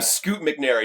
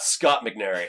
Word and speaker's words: Scoot McNairy: You know, like you're Željko Ivanex and you're I'm Scoot McNairy, not Scott McNairy.